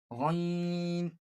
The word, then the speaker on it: غ: ha ain ha ain ha Then, ghain kha. These both letters kha These both letters pronounce from the upper part of the throat, which is near to the mouth. ghain kha ghain kha Okay?